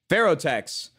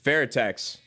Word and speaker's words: Fairtex: Ferrotex. Yo, brother, you just knocked out that pronunciation for me. Yo, listen, Fairtex.